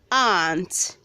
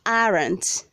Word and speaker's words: aunt: Word number 18, we have aunt, aunt, aunt, not aren't. The word is aunt.